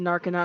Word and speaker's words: Narconon: I said Narconon. I was saying it wrong. I was missing the A.